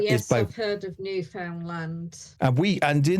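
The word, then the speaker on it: Newfoundland: I also love how people from the UK always pronounce New Foundland properly, Papa, and half of can seem to do it. How could you not get new found land? New found land. Found land. It's land that's new and it's been found.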